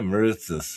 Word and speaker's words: Moretus: Yes. Mauritius. Yeah, Mauritius or whatever. Yeah. You said it right.